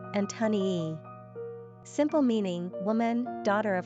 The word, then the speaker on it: Antonia: Pronunciation, Antonii.